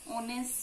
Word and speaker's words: honest: And also where the H is silent, like our, honest, so in these things we use N.